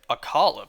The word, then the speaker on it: Akkala: I'm so used to pronouncing it Akkala, but no, it's Akkala.